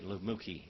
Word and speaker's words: Lamucci: The Universal Hotel was where my grandfather, my step-grandfather, Amadeo Lamucci, actually Lamucci is how you say it, Amadeo Lamucci, he was the chef there.